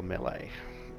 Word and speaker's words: melee: Unfortunately, she has a negative quirk, which is Torn Rotator, which is minus 5% to melee skills. Or melee, if you want to pronounce it correctly.